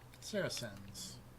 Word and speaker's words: Saracen: You think it's hard C or soft C? I'm assuming soft C will look that up just to be safe. Apparently it is in fact soft. Pronounced with an S sound.